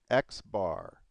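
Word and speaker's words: x̄: The mean is this right here, and we say X bar. So there you see the X bar, and that's actually how you say it, is 76.75.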